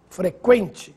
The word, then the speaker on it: frequente: Qu frequente sequestro delinquente. Agora sim, você ouviu o som da letra U.